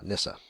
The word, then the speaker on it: Nisse: So, not Nissen, Nissa. I actually didn't know that. Yeah, Stina's going to give me crap for mispronouncing that.